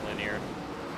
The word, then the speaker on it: Lanier: Lineer, not laner. I thought it was Lineer. No, it's Lineer. I think I've heard people say it linear.